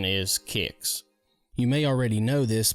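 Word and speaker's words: Qix: came across a game called, whatever this is, Chicks. I actually looked it up, and the true pronunciation is Kicks.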